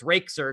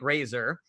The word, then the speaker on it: Razor: the Queen Rachel position, I mispronounced the name Razor as Rakeser because that's how it's spelled. And so Razor put, first of all, Queen Jarrett, my name is, get my name right, Razor.